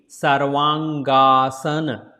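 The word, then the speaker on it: Sarvangasana: So here it should be 2 times A. Sarvang. Sarvang and asana. Sarvang asana. If you put together the name, it will be Sarvaangaasana. Sarvaangaasana.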